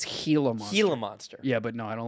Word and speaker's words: Gila monster: a monster you know it's actually pronounced a gila monster oh is it really it's helium Gila monster yeah but no I